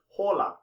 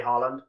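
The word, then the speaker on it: Haaland: norway they pronounce it hola harland has said this but he's also said that if you're not in norway then you can say harland i had to hold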